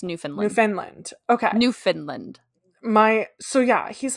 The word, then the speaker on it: Newfoundland: So you spelled it correctly, but it's pronounced Newfoundland.